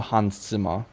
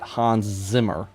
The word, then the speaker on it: Hans Zimmer: Um, but I do know Hansima. And yes, I am saying it like that because I'm pretty sure that's how you pronounce it. Not Hans Zimmer.